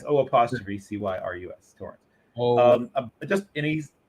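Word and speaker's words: O'Cyrus: It's like the name Cyrus, but it's O''. So it's O''Cyrus.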